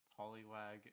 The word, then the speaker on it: Polywag: Hi, I'm Polywag, but my name looks like the word peach. Very important. It is not pronounced peach.